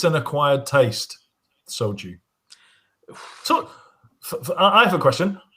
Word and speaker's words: soju: you about um um soju is that how it's pronounced slju oh soju soju yes yes sorry and she